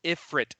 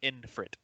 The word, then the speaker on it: Ifrit: um it is uh it's ifrit not infrit it's prince yes i